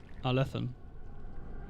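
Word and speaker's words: Arlathan: Arlethan? Arlethan. Right? Emphasis on second syllable.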